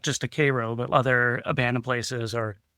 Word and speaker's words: Cairo: Uh, but yeah, jumping out of the car and shooting the shot for Gem Theater from they call it Cairo, but it's spelled Cairo.